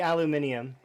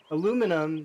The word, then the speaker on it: aluminium: thought though oh no it's definitely aluminium aluminum doesn't make sense no offense to people